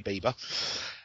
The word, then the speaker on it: Bieber: teenage Idol called Justin Bieber um I was pronouncing it bber and it's apparently Bieber um he's had a premiere of one of